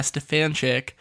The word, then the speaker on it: Stefanchik: Legally I have to go by Stefanchik. Will your wife be listening to this? Maybe. Okay, so Stefanchik.